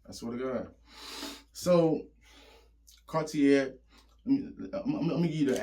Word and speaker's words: Cartier: So, Cartier, let me give you the actual technical uh I don't know if it's annunciation or pronunciation of the word. Whichever one it's Cartier Chao, that's how you properly.